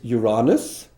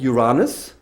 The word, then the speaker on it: Uranus: meaning behind Saturn is Uranus, and I would recommend to always pronounce it in the British English way and not in the US American way, because there could be some misunderstandings.